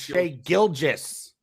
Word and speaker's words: Gilgeous: His name's Shea Gilgeous. Soft G in there.